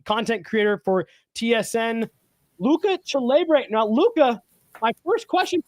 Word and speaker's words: Celebre: You guys know him from BarDown, content creator for TSN, Luca Celebre. Now, Luca, my first question for you, as someone who has their last name mispronounced a lot, did I say that right, Celebre?